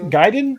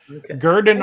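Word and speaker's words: Gurdon: little town called oh Gaiden I can't know if I'm pronouncing it's in Arkansas uh where's it at yeah it's in a little town called Garden g-u-r-d-o-n gurden Arkansas which is about seven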